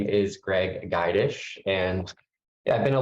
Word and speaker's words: Gydush: letting me drive and it's Greg geidish by the way you're pretty close it's a hard name